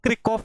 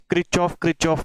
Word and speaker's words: Kirchhoff: Right, how to pronounce this? It is English में इसको क्रिकऑफ बोलते हैं, क्रिकऑफ लॉ, क्रिकऑफ करंट लॉ, लेकिन यहाँ पे हमारे यहाँ पे क्रिचॉफ बोलते हैं. सो इट इज अप टू यू, क्रिचॉफ्स current law या फिर क्रिकऑफ करंट लॉ.